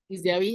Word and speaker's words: Giziawi: And she curated, and I hope I'll pronounce this correctly, Giziawi, is that correct? Giziawi, yeah.